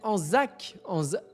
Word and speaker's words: Anzac: D'ailleurs, tu ne prononces pas bien mon pseudo à part le Z, mais comme c'est pour cacher ton incroyable charisme, tout va bien. Tu as raison, Monster. Du coup, c'est Anzac.